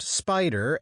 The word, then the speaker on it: SPDR: If this afternoon, for example, I were to buy 100 shares of the ETF called the SPDR, pronounced Spider S&P 500 ETF Trust, I would know that exactly 6.37% of my money was invested in Apple Inc.